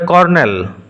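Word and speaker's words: colonel: রিলেন্ট relentless নিষ্ঠুর মারসিলেস লাভলি সুন্দরী beautiful কর্নেল উচ্চারণ এবং বানান লক্ষ্য করো লক্ষ্য করো উচ্চারণে একটা আর থাকবে কিন্তু বানানে কোন আর নেই সি ও এলও এনই এল উচ্চারণ হবে কর্নেল সেনাবাহিনীর উচ্চপদস্থ অফিসার হি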